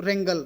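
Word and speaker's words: wrangle: व्रेंगल W silent है तो ये रेंगल बोला जाता है, तो रेंगल।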